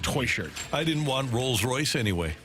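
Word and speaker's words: Techert: news has gotten St how does Cedric spell his last name t e c h e r t and I'm 99% sure it is pronounced toy shirt I didn't want Rolls-Royce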